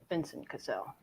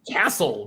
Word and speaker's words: Vincent Cassel: let's go to Britney Vincent casselle uh let's go to Elbert I said leer and Tyler now I know how to pronounce it Vincent Cassell I always said Castle but yeah C I was